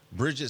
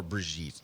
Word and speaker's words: Brigitte: Bridget says, hi, guys. Hope you're all having a great week. Or Brigitte, sorry. Brigitte? Susie. I do that every time her name comes up. I always mispronounce it.